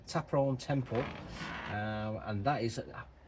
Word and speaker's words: Ta Prohm: So I've remembered how uh actually I've remembered what it's called and how you pronounce it. So it's Taperon Temple.